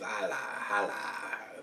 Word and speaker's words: Jai Alai: today today's beer is cigar cities Hal that's how it's pronounced i a i a a i I think it's Hal uh it's an it's